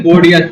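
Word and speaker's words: Bordeaux: य पर मिलेगा आपको बोडिस इसको बोलते है बोडिस बी ओ आर बी ए यू एक्स और यहां पर आपको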